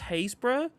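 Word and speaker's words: Happisburgh: I mean, there is a village on the coast in Norfolk, which is pronounced Haysborough. It's spelt HAPPISBURG.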